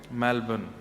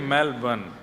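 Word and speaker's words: Melbourne: करेंगे कहां रहते हैं मेलबर्न हमारे एक भैया बोले मेलबर्न जो मैल को जला दे मेलबर्न मैंने कहा नहीं मेलबर्न र जो है वो साइलेंट बोलो तो लेकिन हुआ क्या यहां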